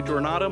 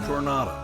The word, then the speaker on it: Jornada: I mispronounced Jornada. I'm sorry. It's pronounced Jornada, not Jornada.